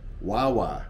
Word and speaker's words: guagua: eat it with something called wawa which spelled like guagua gua gua it's a catching word